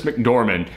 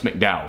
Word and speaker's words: McDormand: ahead and says I always screw up the pronunciation of her last name Frances McDormand I was gonna say Francis McDowell Frances McDormand she played Mildred the main character